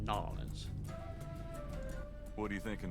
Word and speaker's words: New Orleans: And it's interesting how he pronounced it New Orleans, as opposed to Nolans.